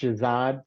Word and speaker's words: Shahzad: for the first time it's pronounced Shazad carbid wallala carbid wallala almost got there what is the story